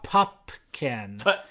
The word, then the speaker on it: Pupkin: the movie that when pumpkin's monologue appeared compared to Jerry pumpkin putkin P pupkin you're like the people in the movie who mispronounce it over and over again that's the gag I'm